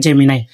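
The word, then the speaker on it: Gemini: এটা অনেকে উচ্চারণ করে জেমিনে। এটা সঠিক উচ্চারণ হবে জেমিনায়।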